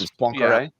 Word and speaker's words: Poincaré: gets- It's Poincaré.